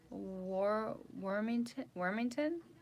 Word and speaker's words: Juanita Wormington: Juanita Wormington. Hello, how are you? That's how I said it. I said it correctly. Okay, I said it right.